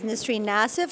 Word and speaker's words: Nissreen Nassif: are and what you do my name is nistri nassif i work for floor and i'm pipeline design